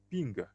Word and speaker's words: PNG: PNG portable Network Graphics PNG pronounced ping designed designed to replace